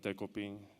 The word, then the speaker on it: デコピン: And as far as the dog's name, he was originally named Decoy, so I kind of took that and made it Dekoping.